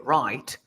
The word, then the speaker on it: write: Remember, Diego, that we never pronounce W when we say right.